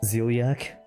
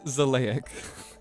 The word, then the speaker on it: Xileak: Zeliac, I shall see you around. It's Zelic. Zelic.